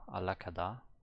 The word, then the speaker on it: 안락하다: Okay, that was the one where the N is pronounced like an L. Alakada.